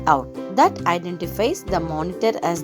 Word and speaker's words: cout: It is pronounced as cout.